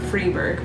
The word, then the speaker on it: Freiburg: If there's an E after an I, I know it's E, like Freiburg is spelled F-R-I-E, Berg, and you pronounce it Freiburg, but Triberg doesn't have an E after the I.